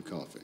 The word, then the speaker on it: Coffey: Your name is Coffey. Like a drink. Only not spelled the same.